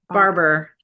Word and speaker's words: Barbour: Barbour. Barber, just like Barbour. ER. Okay, Yeah.